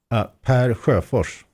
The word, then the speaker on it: Per Sjofers: I try to make it easier by saying Per Sjofers. Sjofers. Like chauffeur in the driving seat.